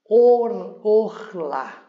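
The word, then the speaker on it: עָרְלָה: nós temos aqui um por isso que pronunciamos o orla. Or lá com eh sílaba tônica no lá.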